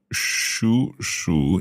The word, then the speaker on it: 属鼠: However, remember we have two third tones together. The first third tone becomes second tone.